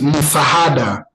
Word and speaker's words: msaada: So help is msaada. It's a moon, not ma. Msaada. Yes, msaada. So msaada. So you just say an then sa, then a, then da. Msaada. That's a help.